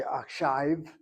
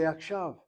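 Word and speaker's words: עכשיו: We don't say akshive, we say akshave.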